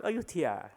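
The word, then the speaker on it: Ayutthaya: also here in Thailand this is the ayutthya of Thailand which we pronounce ayutthia and then these are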